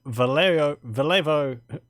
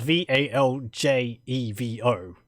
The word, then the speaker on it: Valjevo: Fact: the boss holds audiences in Vallejo Castle. I mean, it's spelt Valjevo, so I'm saying Vallejo, but just because I think it sounds better than Valjevo.